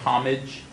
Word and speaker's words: homage: yeah um you know it's like it's like homage to pronounced with like a French kind of accent I don't know if